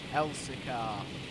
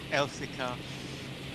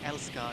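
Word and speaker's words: Elsecar: Elsicar is how you pronounce it, Sam. I think you might have been pronouncing it wrong. Elsicar. Yeah, I said Elskar, didn't I?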